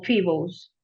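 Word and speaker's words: Phoebus: que se llamó, pues se escribe Foebus, se dice como Fibos.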